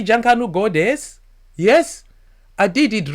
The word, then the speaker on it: Junkanoo: Didn't I say Junkanoo goddess?